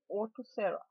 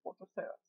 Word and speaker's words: Orthoceras: This is, I think it is to be pronounced Orthoceras. As you know, I have a problem pronouncing things properly, but I think it's Orthoceras.